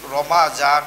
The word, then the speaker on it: Ramadan: But here is Ramadan. My dear students, you have to pronounce in Arabic term Ramadan.